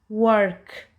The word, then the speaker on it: work: Always remember, whenever OR come just after W, we will say R. Let's look some examples. W, R, T, word. W, R, K, work.